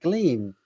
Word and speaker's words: Gleam: got to g and i went gleam oh it rhymes with beam it's quite easy to